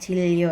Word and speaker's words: 진료: Ini bacanya 진료 ya, bukan 진료. Karena ketika nian bertemu real, itu niannya berubah jadi real.